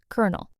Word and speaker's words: colonel: Kernel.